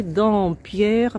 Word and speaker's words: Dampierre: Так что находится Auberge в городке небольшом, который называется Дампьер по-русски, Дампьер по-французски произносится.